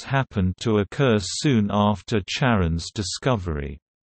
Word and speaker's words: Charon: These indicate only one pronunciation of «Charon» when referring specifically to Pluto's moon, with an initial «K» sound. Speakers of many languages other than English, and many English-speaking astronomers as well, follow this pronunciation. However, Christie himself pronounced the ch as sh ipa after his wife Charlene.